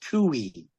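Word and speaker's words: Twohy: Well, apparently apparently it's pronounced Tui.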